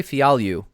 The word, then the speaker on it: Fialho: So Fialho, Andre Fialho is how you pronounce that name, versus Miguel Baeza, Caramel Thunder.